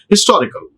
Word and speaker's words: historical: Like that, in some case where H is pronounced, such as historical. It is a historical movie. A historical movie. We pronounce ha sound.